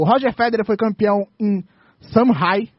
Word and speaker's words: Shanghai: No tênis, o Roger Federer foi campeão em Shanghai. Aprendi como se fala, não é Xangai. É Shanghai.